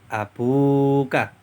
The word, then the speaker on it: أبوك: Abun ditambah Dir muttasilka maka menjadi abuka waunya dibaca panjang abuka ayahmu nah kata abuka